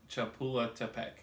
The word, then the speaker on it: Chapultepec: Club de Golf Chapultepec.